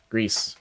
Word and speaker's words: GRIS: spoken language okay it's you pronounce the ass it's like grease but with a Mexican accent whoops Greece Greece um there's no